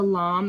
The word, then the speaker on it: lame: This is the lam. It's called a lam. It's spelled like lame, but it's actually pronounced lam.